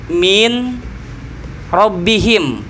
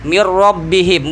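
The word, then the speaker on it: مِن رَّبِّهِمْ: Seperti kalimat min rabbihim dibacanya. Nah, minnya itu hilangkan nunnya karena idgham. Masuk blebur sama ro. Mir rabbihim, bukan min rabbihim lagi.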